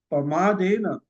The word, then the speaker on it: प्रमादेन: पाली में, और एन, तो ये बहुत सारे लोग गलत उसका उच्चारण करते हैं। तो अब प्रमादेन ऐसा उसका उच्चार होना चाहिए, मतलब प्रमाद से रहित, मतलब आलस से रहित।